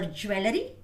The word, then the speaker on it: jewelry: How do you pronounce this? Jewelry or jewelry, right?